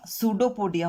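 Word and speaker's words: pseudopodia: paramecium ठीक है या सूडो पोडिया हो सकते पी साइलेंट होता है इसमें सूडो पडिया हो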